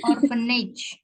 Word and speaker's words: orphanage: Orphanage. Apa? Orphanage. Aku tulis ya di Zoom chat. Oke, Miss. I check. Oh, orphanage. Ya, kalau P ketemu H kan bacanya apa? F ya.